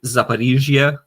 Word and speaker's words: Zaporizhzhia: So she's trying to say Zaporizhzhia because the Ukrainian pronunciation has the I instead of the O. But because for some strange reason, many, especially Americans, don't understand that ZH is a Z sound, like a J, like SH is a sh, so